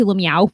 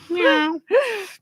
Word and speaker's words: Lemieux: K2 Lemieux. K2 Lemieux. No. Meow.